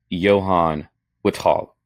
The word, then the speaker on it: Johan Lithvall: Today, uh we are privileged or honored to have the man, Johan Wester Hall, uh joining us. Perfect pronunciation.